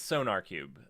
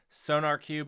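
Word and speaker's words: SonarQube: cube sonar cube okay i i i think it's sonar cube uh is how you pronounce that it it uses a q instead of a k threw me off but um oppa is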